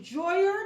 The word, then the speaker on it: Joyor: my channel today this video is about the joyer that's spelled j o y o r f like frank seven s like sam so that's the juria f 7 s unboxing so let's begin so